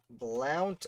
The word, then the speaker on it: Blount: we've got 28 seconds blount i think we got blown because i mentioned i think it's pronounced blunts and i've been pronouncing wrong my whole life wentworth is another worth